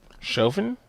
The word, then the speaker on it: Chauvin: Chauvin?